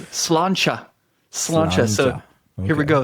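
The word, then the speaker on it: Sláinte: It looks like slante, but it's not that. It is pronounced. It is. Oh, it's slanchcha. Slancha. So, here we go. Slancha.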